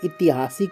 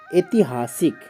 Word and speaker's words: ऐतिहासिक: एक शब्द है इतिहासिक कुछ लोग इतिहासिक कहते क्या होता है ति हासिक ऐतिहासिक यहां ई नहीं होता है यह वाला ई नहीं होगा तो ऐतिहासिक होता है छैनी क्या